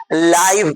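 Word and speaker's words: live: माने रहना होता है स्पेलिंग वही होता है एल आई भी लाइव पढ़ेंगे तो प्रत्यक्ष हो जाएगा बड़ा अंग्रेजी जो है मुश्किल चीज है देखिए एल आई व ई लिव लिव माने रहना एल आई व स्पेलिंग वही है लाइव लाइव माने प्रत्यक्ष आई एल ई एल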